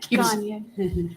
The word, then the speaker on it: Gagne: Gagne.